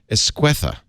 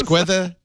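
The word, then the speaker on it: Esqueda: pronounce your name and I've been saying it wrong all this time estha oh you so close so close esquea together esque okay I'll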